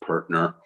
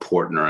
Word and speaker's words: Pertner: It's pronounced Pertner and not Portner, and I'm going to keep hammering everybody until we get till we say my family name the way it's supposed to be pronounced.